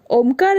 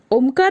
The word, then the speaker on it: ओम: ओम यह शब्द 3 वर्णाक्षरों से और एक आधे अक्षर से मिलकर तैयार हुआ है। अ, उ और म यह 3 वर्णाक्षर और ओम के उच्चारण में जो अर्ध बिंदु या चंद्र बिंदु आता है उसे ही आधा अक्षर माना गया है।